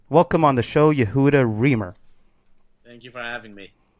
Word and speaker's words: Remer: Remer, yes.